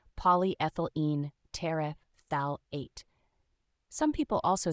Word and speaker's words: polyethylene: part it's pronounced as polyethylene think of it like saying poly as in many ethyl like the start of ethanol and in like the